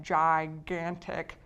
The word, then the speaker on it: gigantic: Now if you look at gigantic, it has both. We have gigantic. We have the hard G here, but if you notice what follows it, an A, which is not obviously an E, I, or Y.